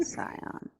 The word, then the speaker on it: scion: Is it pronounced Sion or Scion? I would say Scion.